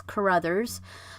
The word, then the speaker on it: Carruthers: new one for me I did have to look up how it's pronounced and it is Carruthers but so I decided